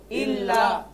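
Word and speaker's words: إلا: দেখেন প্রথমবার ইল, ইল প্রথম উচ্চারণ জজমের মতো, প্রথম উচ্চারণ ইল, ইল দ্বিতীয়বার লা একসাথে ইল্লা ইল্লা।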